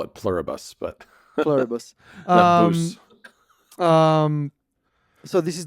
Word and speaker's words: Pluribus: So here's how I would pronounce it: Pluribus, because it's Latin. From the Midwest, I'd call it Pluribus, but Pluribus.